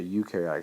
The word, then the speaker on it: eukaryotic: say that is because this word even though it looks like it's spelled or it's pronounced another way this is a you okay you are not